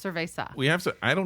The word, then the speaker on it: cerveza: some here Mesa yeah not serve a sauce it's cerveza we have so I